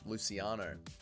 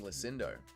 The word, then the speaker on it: Luciano: Luciano. Luciano. And I can hear the commentary team as well. Nacho. And I keep saying Lucindo. Where is there a D in her name?